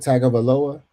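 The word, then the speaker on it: Tagovailoa: Tag of aoa. That's how you say his name. Tagaloa.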